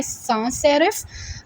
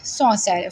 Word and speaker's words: sans serif: इसको वैसे तो ये लिखने में है सांस सेरिफ, लेकिन इसकी एग्जैक्ट प्रोनाउंसिएशन है सॉन्स सेरिफ। सॉ इज़ the word, French word, और इसका मतलब फ्रेंच में होता है विदाउट।